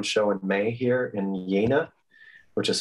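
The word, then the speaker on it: Jena: to do one show in may here in yena which is spelled like jamma with one hand and it's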